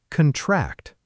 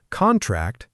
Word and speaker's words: contract: And contract, stress on the second part, is a verb, and it means to become smaller or to shrink.